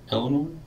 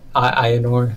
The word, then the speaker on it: Aynor: Prior to that, they had mostly stayed up north, closer to Eleanor? City whose name I can never remember. Yeah, Eleanor. Aynor, that's how you say it.